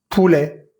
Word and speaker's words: poulet: Ticket, secret, projet, sujet, objet, filet, poulet, billet, sommet, jouet. En ninguna de estas palabras pronuncié la T que va al final, pero sí pronuncié la E que va antes de la T.